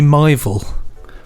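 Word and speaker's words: Mival: is it my fault mi v al I really should have asked how to pronounce the Jeff Ellen it should be my Vil let's go with that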